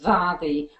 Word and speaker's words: Mharie: Well, the middle name is actually pronounced Mharie with a V. MH in Gaelic is pronounced V.